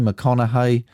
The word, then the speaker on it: McConaughey: Starring Matthew McConaughey, that's how you say it, Edgar Ramirez and Bryce Dallas Howard.